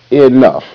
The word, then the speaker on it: enough: Now, in this word enough, the E is making an irregular sound. The basic sound for E, the long E, is E, like an eagle. And the basic sound for the short E is eh, like bad, bad. In this case, the E is making the short I sound E. So that's irregular.